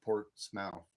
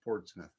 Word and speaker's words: Portsmouth: I don't think you pronounce it Port Smile. It's pronounced Portsmith.